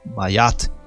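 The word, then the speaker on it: Maat: mais próxima de libra Mat é pronunciado mayat ela é a mahat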